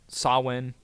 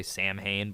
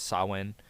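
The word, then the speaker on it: Samhain: It was uh sawin uh that's spelled Sam Hayne and so a lot of people say Sam Hayne but it's sawin um and it was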